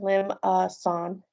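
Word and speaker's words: limaçon: now limasson this i wrote here how you pronounce that lim uh son um that's french if uh that pronunciation is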